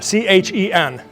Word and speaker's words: Chen: C H E N. Chen. That's how you pronounce it.